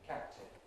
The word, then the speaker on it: captain: Similarly with captain.